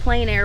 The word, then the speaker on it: plein air: Yes, I'm sorry I didn't explain that, but yes, it's French, and it's like plein air, but it's spelled a little differently because it's French.